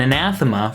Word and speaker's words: Anathema: of this song is actually later used in Anathema from Regional at Best. Yes, it is pronounced anathema.